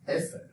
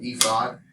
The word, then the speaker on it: ephod: It was called an ephod or ephod. I've heard it pronounced both ways.